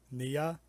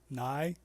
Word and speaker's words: Nye: Nia? Hold Nai? on. Yeah, it's Nye. Nuisance. Bill Nye.